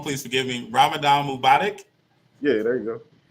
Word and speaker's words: Ramadan Mubarak: the pride excuse me the proper greeting is ramadan mubarak it means bless ramadan but uh say it one more time so i can say it properly ramadan mubotic mobotic yeah yeah there you go say less so um